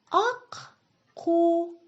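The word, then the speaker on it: ақку: Мы слышим сразу два звука «к» подряд. Ак-ку.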